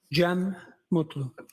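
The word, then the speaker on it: Cem Mutlu: Jeem Mutlu.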